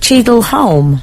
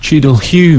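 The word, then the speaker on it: Cheadle Hulme: he says or he says it was it chedel home chedel Hume it's it's an area of Stockport greater Manchester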